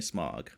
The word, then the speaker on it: Smaug: How do we pronounce that, Thor, just to make sure? It's definitely Smaug, alright?